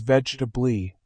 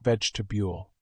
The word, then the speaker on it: vegetable: He watched a video about pronunciation and realized he had been saying vegetable as vegetably, not vegetable.